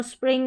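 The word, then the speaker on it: spring: आई एन जी को इंग पढ़ा तो स्प्रिंग हो गया।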